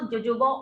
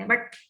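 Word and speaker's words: jojoba: फिर इसमें जो हम देखिए, इसको होबा ऑयल बोलते हैं एक्चुअली, बट इंडिया में कई लोग उसको जोजोबा ऑयल प्रोनाउंस करते हैं, but actually it is called as pronounce as होबा ऑयल, ठीक है।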